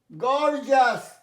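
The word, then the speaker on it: gorgeous: গর্জাস, জাস কথাটা হচ্ছে জাস, গর্জাস Zia's নয়, গর্জাস, গর্জাস।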